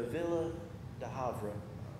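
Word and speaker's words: Ville du Havre: the place where the villa de Havre that's how you pronounce it in French where the ship went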